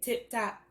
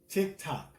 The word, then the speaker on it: TikTok: you said tip-top. Like, wait a minute. I might have said tip-top.